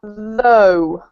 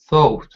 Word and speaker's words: though: And it's the same pronunciation as, for example, although, and it's the same meaning, although.